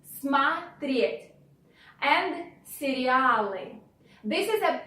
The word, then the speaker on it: смотреть: Since O, which goes after M, is not stressed, we pronounce it like A. Смотреть, смотреть.